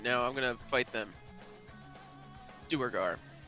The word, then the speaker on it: Duergar: Duergar. Dwagar. I think it's Dwagar. technically what you're supposed to say, but I don't ever say it. Doubtful. No, that is correct.